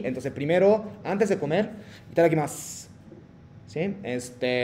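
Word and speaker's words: いただきます: Entonces, omaji cuando terminan U, no pronuncia. Finales de U, no pronuncia. Como si itadakimasu, no es como itadakimasu, no, itadakimasu, como que desapareciendo hacia la final.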